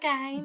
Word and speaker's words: Gein: It's Ed Gein. It's not... Ed Gein. Is that Gein? Gein. Like... Gein. It's Gein. It's like Ramstein. Gein.